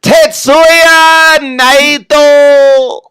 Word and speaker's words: Tetsuya Naito: No, I'm sorry, I said his name wrong. Tetsuya Naito.